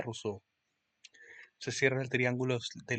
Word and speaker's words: Rousseau: Don Juan Jacobo Rousseau se pronuncia Rousseau.